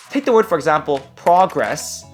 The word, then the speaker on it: progress: the word for example progress versus progress same letters same basic sound but the meaning changes depending on how you say it I'm making progress